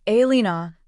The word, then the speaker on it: Alina: Tatiana, my mother, had taken to correcting people when they pronounced it wrong. "It is Alina," she would say sharply, as if misnaming me was a personal insult to her pride.